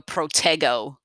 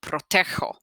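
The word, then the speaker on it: protejo: and j yoko riho if you left the g as it was in front of an o turns it into a hard g sound so incorrectly you might say yo protego eek protego soft g proteger like the h must have a soft sound in the actual conjugation as well protego protego doesn't seem like it came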